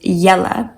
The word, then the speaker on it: Jelle: Now, I'm not sure how great this would work in an English context, since in English you would pronounce it JELLE, which maybe would be a bit strange, kind of like Jello, but I just love this name.